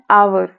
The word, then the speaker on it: hour: एन आवर, एन आवर, HOUR, spelling basis पर vowel इस्तेमाल नहीं होता है। अब इसको साउंड करें, आवर, आ से होगा, राइट।